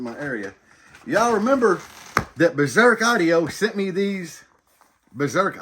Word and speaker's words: BZRK: And I'm pronouncing it BZRK because it's BZRK.